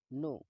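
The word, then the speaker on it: know: नो. नो का मतलब होता है जानना, दोस्तों इसमें के साइलेंट होता है.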